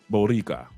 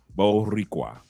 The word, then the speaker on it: Boricua: He said it's pronounced He said okay, it's Boricua. I pronounced it. Oh, okay. Boricua. And I don't have a problem rolling my tongue. Boricua.